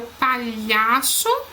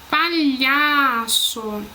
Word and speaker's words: palhaço: aqui não vai ao palhaço que a gente vai assento açúcar Preste atenção quando eu vou falar ó palhaço palhaço a sílaba mais forte chão EA que a penúltima sílaba a açúcar açúcar E